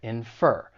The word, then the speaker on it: infer: The verb, it has two syllables. And once again, the stress is on the second syllable, infer.